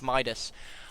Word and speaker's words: Midas: I have to ask why do you keep saying hand of midaz instead of Min I'm not entirely sure um I just just can't pronounce that word I forget every single time how it's pronounced I'm going to keep calling it hand of midaz instead of Hand of Midas I'm going to try